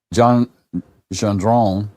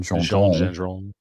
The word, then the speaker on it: Gendron: Gendron, that's the French pronunciation. Gendron.